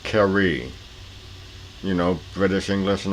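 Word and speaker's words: Carew: oh yeah his black character's name is actually pronounced kerry you know british english and all that and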